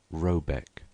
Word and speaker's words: Rabaeck: The manor house, or herrgård, in question is to be called Rabaeck, pronounced something like Robeck, though that is not its name.